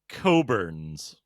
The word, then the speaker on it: Cockburn: To be fair, I understand that it's pronounced Coburns.